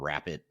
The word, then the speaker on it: Rappit: Palantir, Snowflake, Databricks, company called Rapid, which is it's spelled RAPPIT.